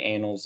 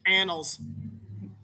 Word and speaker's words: annals: discussions that will remain in the the the anals of Ren's office it's annals I youone call me out on that but